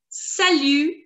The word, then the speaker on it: salut: So as you can see, the last letter T is going to be absolutely silent, and the pronunciation we've already done S-A, sa, and L-U, lu, salut, salut, salut, salut, salut.